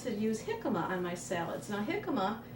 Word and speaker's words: jicama: I also like to use jicama on my salads.